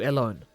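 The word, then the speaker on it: Ellone: I've heard Elone, Ellen, even Eleni, good God. In Japanese it is Eriwone. That translates to alone. No emphasis on the E.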